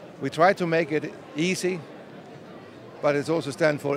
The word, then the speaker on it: iSy: whole digital workflow very easy as a matter of fact the name of the implant is easy although it's spelled isy and um Robert or